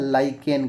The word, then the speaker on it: lichen: क्या कहा जाता है, लाइकेन कहा जाता है। ठीक है, क्या कहा जाता है, लाइकेन। लाइकेन का स्पेलिंग LICHEN होता है, लीचेन बहुत लोग पढ़ते हैं लेकिन ये लाइकेन होता है।